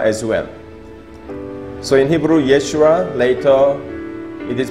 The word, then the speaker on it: Yeshua: So in Hebrew, Yeshua, later it is pronounced Yesu, which means his salvation.